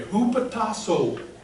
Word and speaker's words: hupotasso: Now wives are to, I have to spell this for you, hupotasso.